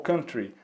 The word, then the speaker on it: country: country brazil small country aqui chama atenção de vocês pessoal para a pronúncia da palavra country tá bom porque como a gente tem aqui um estilo musical um desconhecido que é o country tays podem continuar falando country sem problema nenhum mas a pronúncia em inglês é country country tá legal então não